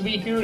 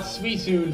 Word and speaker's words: Suicune: Suicune, yes it's pronounced Suicune and not Suicune for some godforsaken reason, is the third of the 3 sacred beasts.